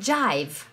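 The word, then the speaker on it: jive: veces pronunciarlo y escribirlo se escribe jota y latina y no se legible sino que se lee saif es como se pronuncia en inglés en inglés en la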